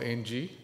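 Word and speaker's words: ENGIE: um what is it gdss is now called NG um it's not AI in French it doesn't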